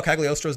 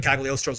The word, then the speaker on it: Cagliostro: I love how Cagliostro's name in the English-speaking gaming world is pronounced with the G when it's actually silent.